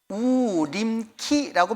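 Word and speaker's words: Urimki: 곳에 이제 살게 되었는데 우라고 하는 말은 우르 말로 뭐라고 말하느냐 우림 키라고 발음해요 어떻게 발음 한다고요 우림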